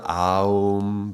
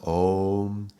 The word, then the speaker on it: Om: Okay, so it's O. It starts with the O. It's not Aum, but Om. Okay, so that would be the Om.